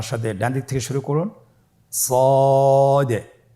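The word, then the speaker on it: ص: শুরুতে আমরা শুরু করছি সদ। সদ হরফটি পুর হরফ। মোটা হরফ উচ্চারণ ক্ষেত্রে মোটা করে পড়তে হবে এবং উচ্চারণ করার সময় তিন আলিফ টেনে পড়তে হবে।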